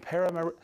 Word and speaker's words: Paramaribo: Yizu, Paramaribo, Suriname. You know that place. Yes, because I looked up the pronunciation. Paramaribo, Suriname.